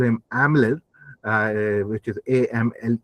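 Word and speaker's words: Amleth: The sources here called call call him Aml uh which is a ML E D. And because Danish uses soft D, that's what we pronounce Aml.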